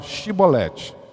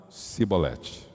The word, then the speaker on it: chibolete: eu não sou então fala a palavra chibolete como estava distante e foi distanciando da comunhão foi distanciando de Deus eles não conseguia falar mais chibolete eles pronunciavam sibolete é interessante querido Quando